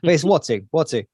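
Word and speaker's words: Uatu: I don't know if it's my dyslexia or whatever, but I can see the way that it's written, and I can't pronounce it. It's Watu.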